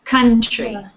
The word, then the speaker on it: country: country the strategy okay so it's on the first the first syllable country good country yeah jorge